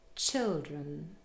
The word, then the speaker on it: children: For example, in the word children. The last syllable, drun, is not stressed and contains a schwa.